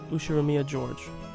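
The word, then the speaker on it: Ushiromiya George: His name is pronounced Ushiroia Georgeia.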